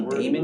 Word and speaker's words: daemon: be there if you see any daemon users pronounce demon but i'm not gonna